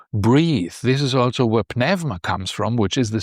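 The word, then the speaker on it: πνεύμα: You have the pneuma, which is pneuma, as the Greeks pronounce it, which is the spirit.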